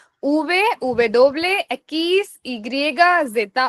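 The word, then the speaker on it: zeta: Then the last letter is Z which is जेता ओ सेता। कैसे प्रोनाउंस करने का? जेता ओ सेता मतलब जेता भी बोल सकते हैं, सेता भी बोल सकते हैं।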